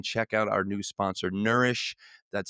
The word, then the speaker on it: Neurish: mental clarity, then check out our new sponsor, Nourish. That's spelled Neurish.